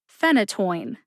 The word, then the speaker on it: phenytoin: phenytoin has three syllables the first syllable Fen gets the emphasis that means that you